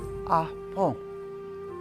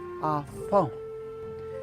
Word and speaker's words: Apo: The second syllable is kind of an explosive word or syllable, and it goes po, po. So you kind of form your lips and make a P sound, and then exhale and say po, po, po, po.